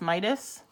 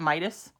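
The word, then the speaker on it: Metis: to pronounce this correctly meatus mitis it's not Midas meat it's wisdom so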